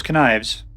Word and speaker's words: connives: Can't pass up those connives. That's where the word connive sounds like it should be pronounced like spelled like knife. K-N-I-V-E-S. Connives.